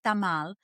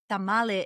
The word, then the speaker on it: tamal: corn husks right basically a tamal in Spanish it's tamal tamale is like anglicized to make it plural but in Spanish you would say tamal so a tamal is